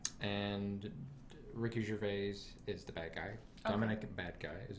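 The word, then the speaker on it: Badguy: And Ricky Gervais is the bad guy. Okay. Dominic Bad Guy is his name. Oh, so, but it's yeah. pronounced okay. differently. Bad Guy, because it's French.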